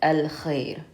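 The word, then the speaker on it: الخير: So moon letters, we pronounce the al as we normally would, al-khair.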